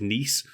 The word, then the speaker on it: Nice: the niece biscuits which named after the the city in France which is nce but people see the word nice written on a biscuit and nice biscuits they're Cally known as